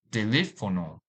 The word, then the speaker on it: teléfono: This word has 4 syllables. Teléfono. Teléfono.